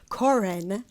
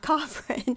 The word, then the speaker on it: Corin: And I think I was saying your name wrong, Corin, not Coffrin.